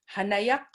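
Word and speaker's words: hanayaq: hanaya h a n a y a q hanayak and in akvat i call up that like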